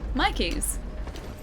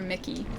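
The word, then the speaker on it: myki: Um, anyway, so we've got like reloadable public transport cards called Mikey's, and it's spelled M Y KI, like Mikey, and that's what Palmo's talking about. Palmo thought that they were Mickey.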